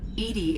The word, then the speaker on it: EDI: airlock is a jar why are you named Edie Edie is the phonetic pronunciation of Ed that is an acronym for